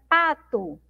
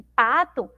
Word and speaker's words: pato: Como a sílaba mais forte é o pá, não é esse tó ou tu aqui onde está a letra O, esse O aqui vai ter um som, né? Mais fraco, tá bom?